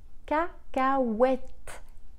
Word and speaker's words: cacahuètes: de cacahuètes ah ah le h est silencieux hu a et le e silencieux cacahuètes car cas wet cacahuètes